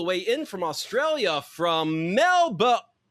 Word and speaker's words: Melbourne: Please welcome our very special guest today, dialing all the way in from Australia from Melba. Sorry, Nick told me to swallow the second syllable of Melbourne.